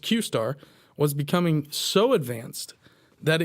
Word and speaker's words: Q*: directors that this project named Q pronounced qar was becoming so Advanced